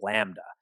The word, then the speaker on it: lambda: sure it's connected it's fine that symbol is pronounced lambda and like i was just saying before if